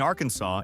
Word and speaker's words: Arkansas: After two US senators argued over the correct pronunciation, the legislature formally declared the only legal way to say it is Arkansas with a silent final s.